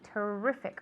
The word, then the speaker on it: terrific: Okay, the intonation is on the E. Terrific on the E, not on the I.